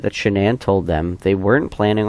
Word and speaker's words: Shanann: problems he said that she pronounced her name shanan but her mom pronounced it Shannon Jeremy said that he